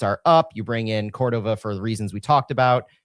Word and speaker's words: Córdova: I've got I've got the muscle memory on on that that I've been pronouncing it Cordova for so long that I need to retrain myself. It's Cordova with a a hard core.